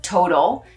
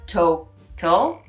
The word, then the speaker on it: Total: So instead of total, you have total, okay?